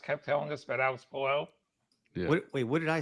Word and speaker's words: Palou: I might have read Pato and it came out.